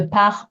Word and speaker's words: part: I hope you can hear part and pas being a little bit shorter, both with silent letters at the end, a silent S, a silent T, quite short.